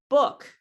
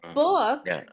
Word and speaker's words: book: it is not no book book book okay so look at the difference between these two okay so book is a wood word and woot is a blue word yeah yeah book boot